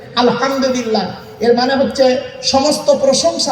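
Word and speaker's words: الحمد لله: আলহামদুলিল্লাহি রাব্বিল আলামিন আলহামদুলিল্লাহ হাই উঠে নয় গলার ভিতর থেকে উচ্চারণ করবেন আলহামদুলিল্লাহ এর মানে হচ্ছে সমস্ত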